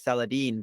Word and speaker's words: Celadyne: founder and CEO of saladine Pence if you go to France you might pronounce the company name as saladine but saladine and full name is saladine